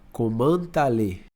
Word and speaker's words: comment allez: Aí eu vou pegar esse T e esse A aqui e vou juntar. Então vai ficar como se fosse uma palavra só. Comment allez.